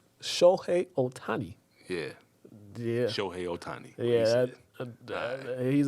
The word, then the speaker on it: Ohtani: trying to use to say his name properly otani shohei ohtani yeah yeah otani yeah he's a different breed